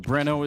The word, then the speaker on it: Breno: of a meme because nobody knew how to pronounce his name. We call him Reno. Um, people were saying BR very hard to pronounce. So, Breno is our shortand for I think I made that executive decision. I just said to cast I was like, "Look, we're just calling it Breno.